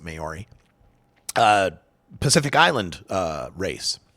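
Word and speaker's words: Māori: is white and mayori I think you pronounce it mayori uh Pacific island uh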